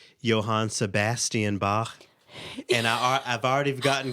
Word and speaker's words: Bach: but uh she was basically like you know pronounce it this way so now i say johan sebastian bach for all of the bach fans i well